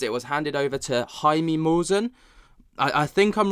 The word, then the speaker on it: Jaime: It was handed over to Jaime Maussan. I think I'm right in pronouncing it this time. Gone are the days of Jamie Maussan. Jaime Maussan, apparently that's how I pronounce it.